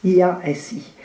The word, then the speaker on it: Iași: Il est né en 1976 dans la ville de Iași, c'est juste, je prononce juste, Iasi, située dans l'est de la Roumanie, pour ceux